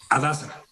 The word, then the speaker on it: Hadassah: A ver, este hospital Hadashah, ¿cómo se pronuncia? Hadassah. Ahora sí que con la H muda, Joaquín.